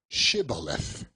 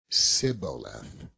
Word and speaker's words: Shibboleth: If he said, "Nay," then they said unto him, "Say now, Shibboleth." And he said, Sibboleth, for he could not frame to pronounce it right.